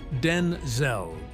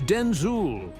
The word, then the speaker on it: Denzel: "My name is not Denzel, it's Denzul," he explained with a